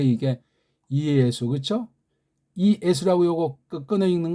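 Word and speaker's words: Ἰησοῦ: 하나밖에 없으니까 그다음 이거 수 이건 두 개 써 있지만 단모음으로 읽으니까 그래서 이예수 삼음절짜리예요. 이게 이예수라고 읽어야 돼요.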